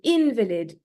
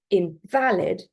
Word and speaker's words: invalid: So invalid with a stress on the second syllable, invalid, that means it's incorrect, it's impossible to use, it's not legally recognized. Compared to, so that's an adjective, compared to invalid, okay, so the stress is on the first syllable, that is a person